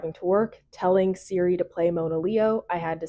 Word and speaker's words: Monaleo: below that you have the phonetic pronunciation of her name Mona Leo and then almost as